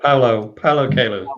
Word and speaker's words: Paulo Coelho: Paulo Coelho, is that how you say his name? Yeah, Paulo Coelho.